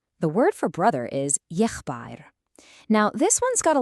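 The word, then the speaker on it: եղբայր: The word for brother is yeghbayrn. Now, this one's got a little more to it. It's yeghbayrn. Let's try that. Yeghbayrn.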